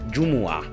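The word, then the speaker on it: جمعة: বাংলাদেশে সাধারণত জুমা শব্দটি ব্যবহার হলেও এর মূল উচ্চারণ আরবিতে জুমুআহ।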